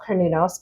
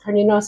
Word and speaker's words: Cernunnos: And they work with a Gaulish pronunciation of Cernunnos. Cernunnos is the Gaelic pronunciation.